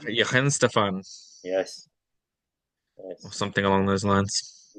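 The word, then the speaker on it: Weihenstephan: I looked up before how to pronounce that properly. Vahin Stefan. Yi Henstefan, Yes.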